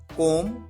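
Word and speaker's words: comb: बाल बनाना, कोम, कोम्ड, कोम्ड, कोमिंग। यहां पर आप ध्यान रखिए, बी साइलेंट होता है, बी का साउंड नहीं आता है, कोम।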